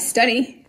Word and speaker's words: study: Then you have study, S-T-U-D-Y, study, st-u-d, two syllable words that end with Y. We talked about this, have the long E sound, but I'm sure you